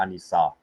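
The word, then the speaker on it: النساء: Right, it's the same with Surah An-Nisa, where they have the AN instead of the AL in pronunciation, right?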